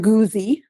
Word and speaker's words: Guze: So, um my name is Goozi. You did pronounce it wrong.